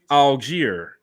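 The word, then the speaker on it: Allgeier: of the draft but his name is tyler algiere yes that's right 151 was the pick round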